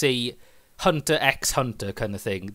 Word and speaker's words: Hunter X Hunter: Yeah, it's kind of Japan being cool because they use, basically it's a Hunter X Hunter kind of thing. The X doesn't mean anything. Yeah. You don't even pronounce it.